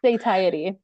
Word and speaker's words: satiety: I always get this word wrong. I can say it like satiated, help me out, somebody. And it reduces the obesity risk at all as well. Satiety. Satiety. Thank you so much.